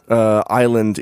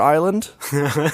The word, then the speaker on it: Isla: Well, in Spanish, it is pronounced Isla, which means island.